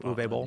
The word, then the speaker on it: Uwe Boll: This film, which is Uwe Boll, is that how you say his name? Uwe Boll.